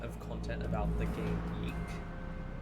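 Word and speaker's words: YIIK: I've been watching, for some reason, an amount of content about the game Yeek, like the indie RPG Yeek, or Okay. Y2K as it's pronounced, which is widely known for being not very good, but also incredibly funny.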